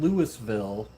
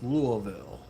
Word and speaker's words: Louisville: You don't pronounce it Lewisville. It's Louisville.